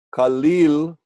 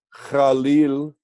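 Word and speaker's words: חליל: flauta o o boe kalil o Jalil pronunciado más como Jalil y vemos en varios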